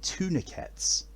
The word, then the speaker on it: tourniquet: You mean tourniquets? No, I mean tourniquets. Tourniquet? No, there's no... You don't pronounce the second T in it.